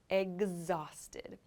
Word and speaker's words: exhausted: sounds like egg actually it's making like a g sound almost so not exhausted but exhausted exhausted i'm exhausted exhausted means